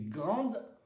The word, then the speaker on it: grande: Si c'est féminin, le E ne se prononce pas. Grande. Si c'est masculin, petit, le T ne se prononce pas, le E ne se prononce pas.